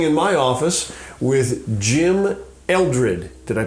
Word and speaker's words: Eldred: am today sitting in my office with Jim Eldred did I pronounce it right that's correct Eldred and Jim it has been with us for